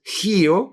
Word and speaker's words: Rio: Pero si lo pronuncias en portugués, dices Rio como si fuera una J la R y Janeiro como si fuera una Y la J.